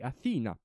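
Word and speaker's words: Athena: missione Europea lanciata E aina sì deve essere pronunciata con la con l' h nel mezzo Quindi aina che invece negli anni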